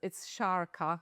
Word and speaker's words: Sharka: So yes, it's Sharka. It's basically pronounces like with shark with a at the end.